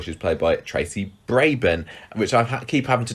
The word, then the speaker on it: Brabin: we said before she was played by tracy braban which i keep having to train myself to say the right way because i think i've gone many years of thinking that that name has been pronounced brabin and it was only um i think it